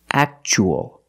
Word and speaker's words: actual: Statue of Liberty and the second word we see t-u-a has a second syllable so the t is pronounced actual actual means real and